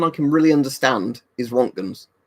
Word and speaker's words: Röntgen: can really understand is Rontgens, or Rontgen, or however you want to pronounce it. Rontgen, I sort of saying, because he sounds like a German name, and he was a German.